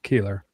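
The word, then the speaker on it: Koehler: Or they call him, I guess, Kohler is how it's spelled? Yes, yeah. What are your thoughts on Bill Keeler?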